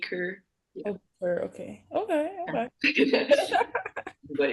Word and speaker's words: Køge: It's actually like pronounced HB Køge. Like, Oh. so if you were to spell it in like English, it'd be like Ker kind of. Because like they don't pronounce the G really, and then the O sound is like a sound, so it's like HB Køge.